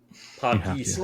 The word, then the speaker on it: Pakistan: You have to say it like that. Pakistan.